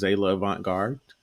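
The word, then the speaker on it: Zaila Avant-garde: highlight um i think her name is um pronounced zela avant-garde she is the first black national champion and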